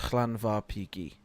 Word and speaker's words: Llanfairpwllgwyngyll: Generally, it's pronounced Llanfairpwllgwyngyll or That is Llanfair.